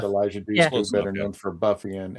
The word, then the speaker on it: Dushku: Elijah Dushku, better known for Buffy and Angel.